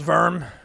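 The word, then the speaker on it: Wurm: That last bit which is basically mostly all instrumental is basically um uh it's called verm but it's spelled wm.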